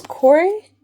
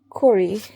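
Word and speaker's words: Kore: is not Persephone, it's Corey. It's K-O-R-E. Corey, I'm not entirely sure how we're pronouncing it. There's been no phonetics, it's just K-O-R-E. I want to say Corey, because it's Greek. Corey.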